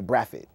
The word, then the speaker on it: Brathwaite: And my last name is Brathwaite. My family's from Barbados. If you went to Barbados, they wouldn't pronounce it right. They say Braffit.